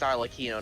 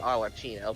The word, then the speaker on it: Arlecchino: I actually discussed the pronunciation with the guy, and it's Arlecchino, not Arlecchino.